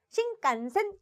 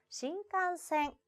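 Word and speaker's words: 新幹線: 요거 어떻게 읽으면 될까요 신간센 이렇게 세 박자로 읽나요 아니라고요 반박자 끌어 줘야죠 자 그래서 신간센 신간센 요렇게 읽으셔야 만 합니다 싱 간생간사 살짝 반박자 정도 끌어서 발음한다는 거 요게 포인트가 되겠습니다 자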